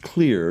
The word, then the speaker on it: Kylr: Well, it's a rangefinder, and it's pronounced Clear. Clear. It's spelled Kylr.